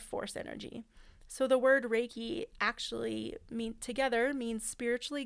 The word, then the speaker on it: Reiki: This practice grew and eventually Raiki was introduced out of Japan via Hawaii in 1937.